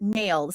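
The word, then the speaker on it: NAILD: that he he says he pronounces it nails so it's n-a-i-l-d.4 all right Scott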